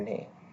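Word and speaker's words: の: অগ্রাজ্য করার ক্ষেত্রে বাংলাতে না বলার পরিবর্তে আমরা ইংলিশে বলি কি নো আই কন্টো দিস প্লেসো স্কুল এরকম ওরকম উচ্চারণটা কিন্তু নো এর মত বাংলাতে লিখলে ও উচ্চারণেই কিন্তু হবে ঠিক আছে আমি একবার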